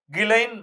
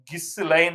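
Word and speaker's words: Ghislaine: அதுக்கு அவருக்கு வந்து பிரிட்டன சேர்ந்த இன்னைக்கு ஜெயில்ல இருக்கிற கிலைன் மேக்ஸ்வெல். மேக்ஸிமம். பேரு கிலைன். ஆனா அது வந்து GHISன்னு கிஸ் லைன் அப்படின்லாம் அடிக்க வேண்டியதா இருக்கும். அந்த அம்மா பேரு உச்சரிப்பு வந்து கிலைன் மேக்ஸ்வெல்.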